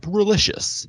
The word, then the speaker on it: Rolicious: Look up Rolicious. He rhymes with delicious.